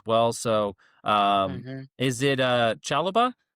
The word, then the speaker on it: Chalobah: So hmm is it Chalobah, right? Trevo That's how Chalobah? I'd pronounce it. Yep, Chalaba.